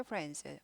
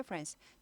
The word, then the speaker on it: friends: friends 하지 않고 드가 묻혀요 발음이. 발음은 해주는데 빨리빨리 지나가니까 잘 안 들릴 뿐입니다.